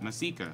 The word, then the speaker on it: Masika: And because you guys messed up the last time donation, the last name's pronounced Masika.